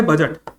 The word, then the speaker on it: bougette: तो ये जो वर्ड है बजट, ठीक है, ये कहां से इंट्रोड्यूस हुआ.